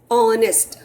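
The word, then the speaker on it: honest: ऑनेस्ट, ओ की आवाज आई, ओ की आवाज आई ना ऑनेस्ट में से, तो हम उसके आगे एन लगाएंगे.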